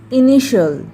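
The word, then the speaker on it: initial: टी का sound होगा श और एल का साउंड होगा ल और IA साइलेंट रहेगा, तो क्या हो गया TIAL शल। एग्जाम्पल इनिशियल, ठीक है, इसको इनिशियल नहीं पढ़ते हैं, इनिशियल पढ़ते हैं।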